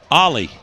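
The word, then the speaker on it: Ali: Ellie, how would you pronounce A-L-I? Ollie, like Ollie?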